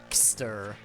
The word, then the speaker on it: Chester: Refers to himself as Joe Chester, or simply Chester, which he pronounces as Kster.